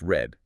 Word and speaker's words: read: In the past, yeah, it's pronounced red. Exactly like the color red.